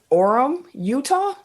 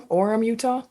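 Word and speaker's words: Orem: say this city properly Orum Utah o r m Orum Utah Orum welcome orm orm number one that's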